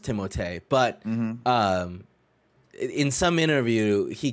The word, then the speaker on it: Timothée: Nick, in the correct French, it is pronounced Timothée, but in some interview he came out and he was like, yeah, it's always been Timothy.